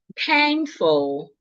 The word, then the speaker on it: painful: Remember I told you that full is an example of a syabic consonant. So I can decide to write my shua and I can decide to take out my shua. But of course there's a shua there. Painful. The word has two syllables which means I'm stressing the first syllable.